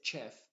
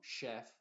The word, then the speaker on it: chef: significar una sh y raras veces la ch va a representar al sonido sh esto solamente pase palabras que vienen del francés como chef no se dice chef sino chef champagne y chateau chateau